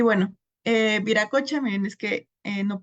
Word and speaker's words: Viracocha: Y bueno, eh viracocha, miren, es que eh no pude homogeneizarla dentro de la presentación, pero aquí lo tengo con V, pero al principio con W se va a pronunciar igual.